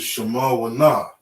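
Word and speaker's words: שמונה: 8 is Shema Wana. Okay. You have a Shah, Ma, Wa, Na. Does that end in a Hada?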